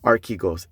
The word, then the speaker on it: Archegos: it doesn't it basically it's pronounced a lot different than what it's spelled like r key goes a r c h